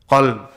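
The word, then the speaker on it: قلب: Qalb. Same word, but just two letters are different. Imagine you read in the Qur'an, you're talking about the dog, but you say qalb.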